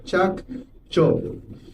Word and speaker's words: Chacchoben: That is the pronunciation. Chak Chob.